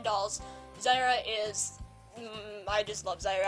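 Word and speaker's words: Zaira: My sixth doll is American Girl Ivy Ling, who we call Zyra, and it's spelled Z-A-I-R-A.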